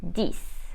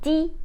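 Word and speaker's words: dix: silent as a result we will say SI not sis not RIT and D not this now let's practice with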